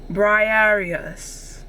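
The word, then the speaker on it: Briareus: Okay, pronunciation. Briarius.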